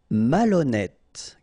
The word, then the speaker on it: malhonnête: Malhonnête. Okay, remember H doesn't exist, so malhonnête.